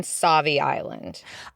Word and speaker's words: Sauvie Island: wanting to ask you, Eden, do you say Sauvie Island or Sauvie Island? How do you pronounce it? I am firm believer in Sauvie Island.